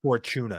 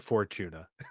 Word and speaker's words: Fortuna: It would be better if you said Fortuna. If you'd pronounced it Fortuna.